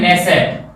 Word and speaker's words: Knesset: है उसका नाम है नेसेट, KNESSET, नेसेट। दोस्तों ये नेसेट में जो हमारा के है वो साइलेंट है, याद रखना। लिखा जाएगा नेसेट और बोलेंगे हम नेसेट, या इसमें के साइलेंट है।